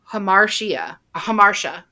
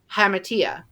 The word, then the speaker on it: hamartia: So in the movie, they say hamartia, but everywhere else, but everywhere else I looked it up how to spell it or how to say it. It was hamatia. The way I heard it on the movie was hamersha.